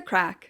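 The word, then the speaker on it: craic: Having the crack, spelled C-R-A-C-K. No, not Irish. Not Irish. It's spelled C-R-A-I-C, incredibly Irish.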